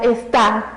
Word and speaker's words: está: decía hace rato, ya está lloviendo, el sonido nos lo indica, está. El sonido fuerte, la sílaba tónica, está en la última sílaba, entonces seguro se coloca.